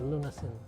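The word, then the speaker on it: lunasin: sayusi berkeley milan um i pronounce it lunasen cassie from the word lunas which is tagalog for cure it's not by design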